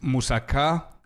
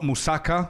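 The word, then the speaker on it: moussaka: I'm I'm hitting the K's a little bit harder because I'm criate, but uh it's musaka. It's not musaka like most of you are probably pronouncing it.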